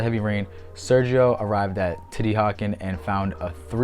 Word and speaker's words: Teotihuacan: Teotihuacan, so there it is. Together, this name is Teotihuacan.